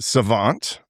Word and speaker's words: SXVXNT: hiphop and rap artist, Savant, which is spelled much different than how it sounds. So yeah. So how you doing, Savant?